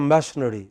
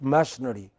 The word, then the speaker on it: machinery: Similarly, many people in the south do not pronounce it properly, they pronounce it as machinery. It is not machinery. What is it? Machinery. What is it? Machinery. If you pronounce it as machinery, your listeners are confused. They think, are you talking about missionaries?